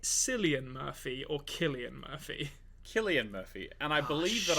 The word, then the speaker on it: Cillian: realise that I think I've been pronouncing a name wrong for a long time. Is it Cillian Murphy or Killian Murphy? Killian Murphy, and I believe that I did correct you on this.